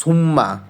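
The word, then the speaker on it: Summa: একটা লেটারের উচ্চারণ করবা যেমন এস U double M এস সুম্মা না বলে এস ইউ এম এ মনে মনে শুধু একটা এম ধর তাহলে উচ্চারণটা কি হচ্ছে সুমা হচ্ছে তাহলে সুমা আর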